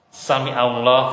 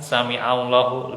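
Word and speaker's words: سمع الله: Atau juga masih banyak yang Sami Allah, padahal harusnya pakai ain. Sami Allahu liman hamidah ya gitu.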